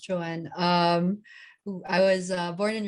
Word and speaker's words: Joan: is joanne um it's spell but pronounced joanne um i was born